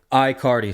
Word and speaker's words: Aicardi: Aicardi. So like Aicardi. there's nothing there in the front. So Just wicked I- simple, Aicardi.